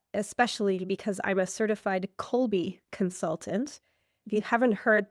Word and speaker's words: Kolbe: But I know that especially because I'm a certified Colby consultant. If you haven't heard that word, it's not surprising. I'll just spell it for you.